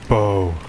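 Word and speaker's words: Beau: Bo.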